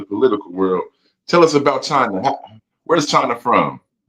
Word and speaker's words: Chyna: China is how you say my name.